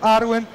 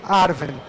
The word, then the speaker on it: Arwen: Ambas as pronúncias são corretas. Então, você pode falar tanto Arwen quanto Arwen.